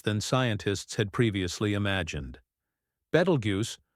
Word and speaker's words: Betelgeuse: Betelgeuse, pronounced either Betelgeuse or Betelgeuse, is a red supergiant located approximately 642 light-years away from Earth in the constellation Orion.